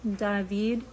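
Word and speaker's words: Давид: David or at ivied it spelled like it sounds like da h to Vee D in Russian dahveed more popular name in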